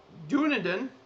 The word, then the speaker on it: Dunedin: Dunedin, yes, that's how you pronounce it.